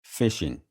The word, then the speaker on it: phishing: Now, let's talk a little bit about botn nets and then we'll finish out this lecture with fishing. Yes, spelled with a ph.